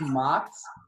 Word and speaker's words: Mox: So right now it's Mox. Right now it's Mox. M-O-X. And I made it that because it's a play to make people say my name the Russian way.